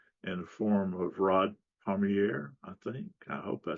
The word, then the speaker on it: Pommier: And the correct pronunciation of my last name is easy to remember for astronomers because it's Pommier, rhymes with Messier.